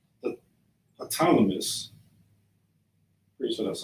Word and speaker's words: Ptolemy: Simon, his brother of Galilee, before, I always pronounce this wrong, the Ptolemy, pretty sure that's how you say it, Ptolemy, like you got to realize that, of course,